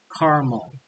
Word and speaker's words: caramel: people say it well in the blue region people are going to use three syllables then over in the red section people are going to say it with two syllables carmen carmel so we have caramel